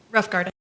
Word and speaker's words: Rothengarten: All right, and was Miss Melissa Rothengarten, is that how it's pronounced? Pronounce it for me. Rough Garden. Rothgarten, okay, thank you.